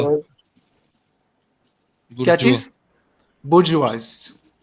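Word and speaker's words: bourgeoisie: बुर्जवाज, बुर्जवाज इसकी प्रोनाउंसिएशन होती है, बुर्जवाज। उसमें वा इस चीज के लिए प्रोनाउंस होता है, बुर्जवाज। ईओ नहीं होता, बुर्जियोज नहीं होता, वो हम अपने कंफर्ट के लिए बोल लेते हैं।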